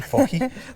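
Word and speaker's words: FOJI: Exactly, fohi. Fohi? Yes, exactly. They are the I can't pronounce it, so I won't try.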